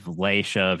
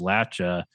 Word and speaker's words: Appalachia: where it just maps out like the different pronunciation of Laisha versus Lacha. And you can see a very clear distinction between Central Appalachia being more Latch and Southern and Northern Appalachia being Lay.